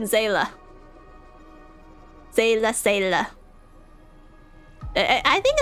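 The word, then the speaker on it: Seele: No, I don't approve or accept Seela. It's always been Zayla.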